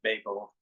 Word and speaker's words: Babel: Only one B in the middle of it, so I'm thinking should be pronounced Babel, and because I don't want us to think of babbling.